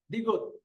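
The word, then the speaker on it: 디귿: আমি আবারও বলতেছি, যেমন গিয়ক, নিয়ন, দিগুত, রিওল, মিয়ম, বিয়প, সিয়ত, ইয়ং, জিয়ত, চিয়ত, খিয়ক, থিয়ত, হিয়ত, ফিয়ক, ফিয়ক, হিয়ত।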